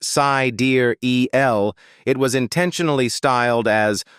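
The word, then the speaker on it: Sideræl: pronounced sai dear eel l.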